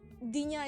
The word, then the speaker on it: dinja: So dinja is basically pronounced like dinja.